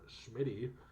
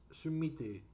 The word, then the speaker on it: Schmidty: also if you pronounce if you pronounce your name schmidty uh in the japanese phrase you're pronouncing it wrong why did i open two tabs here here's the japanese uh here's the japanese pronunciation shimiti i didn't know this sound